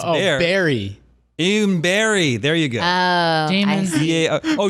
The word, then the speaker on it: Barre: Even berry. There you go. Damon. Oh, you would know that? It took me. You would know that the city Barre is pronounced If berry. he said like the fruit, That's what I couldn't figure out.